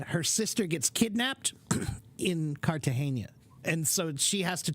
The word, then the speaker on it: Cartagena: It is pronounced Cartagena.